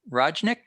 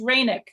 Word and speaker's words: Rajnik: it's Rainick. Like Rainick. Oh, of course. The J is an I.